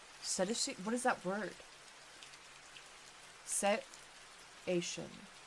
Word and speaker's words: cetacean: Set-ation. Like ocean? Yeah, that's what I thought, like crabs and stuff, right? Yeah. Set-ation. I like how you already had the pronunciation ready for me in chat because you knew I was gonna struggle with this word. You just already had it ready for me. Cetacean. Like crustacean, right?